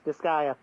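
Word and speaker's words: Disgaea: one wasn't my fault anyways this is it disaya is that is that how you pronounce the game yes disaya okay disa three absence of the attention goes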